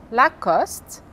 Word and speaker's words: Lacoste: Então, as palavras são, e a pronúncia correta é Carrefour, Paco Rabanne, Jean-Paul Gaultier, Lacoste, Lancôme, Chanel Eau Tendre, Citroën, Peugeot, Renault.